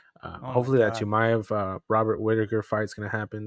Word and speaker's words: Chimaev: I really hope that Robert Whitaker, Chamaev, how do you say it? Chimaev, yeah, I got yeah.